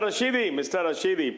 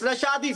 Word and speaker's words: Rashadi: Rashidi, please. Rashidi nahi. I want to Rashidi, say not something. Rashidi. One minute, Mr. Rashidi. It's Rashadi, sir. It's Rashid. Rashadi. Please pronounce it correctly.